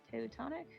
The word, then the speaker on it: Teutonic: Teutonic? Am I pronouncing that correct?